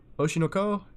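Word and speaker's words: Oshi no Ko: Oshinoko is how it's pronounced, but official trailer.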